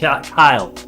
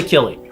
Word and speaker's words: Kille: to Mr Leonard uh Kyle I always want to say killing it's hard not to with the name spelled like that right k-i-l-l-e right Leonard Leonard Kyle he was born June